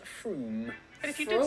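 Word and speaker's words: Frome: from f-r-o-m-e it should be blitheringly obvious it's pronounced froome and if you did say frame don't worry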